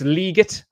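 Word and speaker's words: Legette: It's Leggett. That was a conversation among Panthers fans because Roger Goodell pronounced it Leggett, and everyone laughed at him, saying that it was wrong.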